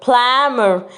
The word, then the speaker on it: plumber: the missing letter is r good job plumber plumber the missing letter is b you have to remember that p is silent any b after must be asyline complete